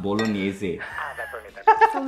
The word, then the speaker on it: bolognese: Pasta bolo ganesha, bro. Bro, it's pronounced bolognese.